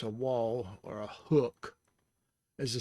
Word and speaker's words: waw: languages include venetian and the pronunciation of this uh of this letter infinition is wall and the symbol is